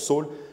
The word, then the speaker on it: Saül: pardon Saul et quand Saul ça se prononce Saul fut arrivé à Jérusalem